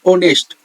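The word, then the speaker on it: honest: इज एन ऑनेस्ट person यहां पर H silent है और हमें हम एच को नहीं पढ़ते हैं यहां प्रोनंसिएशन करते हैं प्रोनंसिएशन जो करते हैं वो ओ से होता है ऑनेस्ट ओ से हमारा आवाज आ रहा है जो हमारा साउंड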